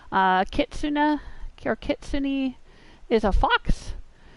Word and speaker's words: kitsune: I think that a lot of Americans pronounce it kitsune, but I looked online and that's not supposed to be the correct pronunciation. Kitsune, or kitsune, is a fox.